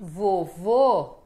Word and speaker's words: vovô: est la deuxième syllabe, comme c'est le cas avec "voVÔ", exactement alors la deuxième syllabe sera plus forte et ce "Ô" sera fermé, papi, contrairement à mamie qui est ouvert avec un accent aigu.